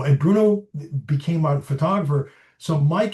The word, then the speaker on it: Bruno: And I say in the beginning that the way he pronounces his name, it's almost like he's a big Russian bear. It's like Bruno, and Bruno became our photographer.